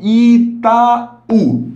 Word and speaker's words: Itaú: Lembrando que a sílaba tônica é essa segunda aqui, essa segunda vogal, né? Então, vogal mais vogal. Itaú.